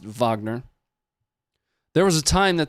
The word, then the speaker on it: Wagner: aren't familiar with Vagner, spelled Wagner, but I did confirm with uh the experts that it is pronounced Vagner, there was a time